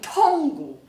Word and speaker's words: tunggu: 哦，也不可以念成 tunggu，也不可以念成 kami。